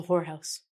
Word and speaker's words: whorehouse: A slang for a brothel is a whorehouse. As you can see, we get this word again. W is silent.